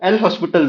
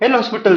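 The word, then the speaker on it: L'Hôpital: तो ये जो एल हॉस्पिटल रूल है इसमें जो एस है वो साइलेंट वर्ड है।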